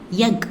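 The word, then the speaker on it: एक: ஹிந்தியில் எக் அப்படின்னு சொல்லணும்.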